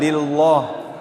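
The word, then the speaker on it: لله: Lah di sini tafkhim atau tarqiq? Lillah. Tarqiq tipis lah ya. Bukan lillah.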